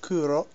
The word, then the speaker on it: Kuro: this is my newly adopted cat C uh pronounced Kuro which is black in Japanese just something that